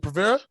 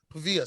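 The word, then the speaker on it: Paiva: Pavera? Pavia.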